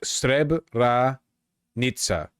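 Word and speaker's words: Srebrenica: It's pronounced Streb R Nitsa.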